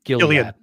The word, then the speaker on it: Gilead: It it is a this Gill I always mispronounce. Gilead.